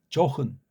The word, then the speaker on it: 좋은: 조은이 아니고 요로 소리가 나면 슬쩍 영음하다 조흔. 그게 원래 우리 소리입니다. 조은이 아니고 조흔.